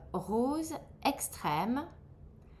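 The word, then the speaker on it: rose extrême: Next you have uh rose extreme.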